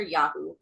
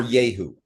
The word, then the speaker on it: Yahoo: West Virginian Yahoo is different from any other Yahoo. Or Yahoo. Depending, Y-A-Y instead of just Y-A-H.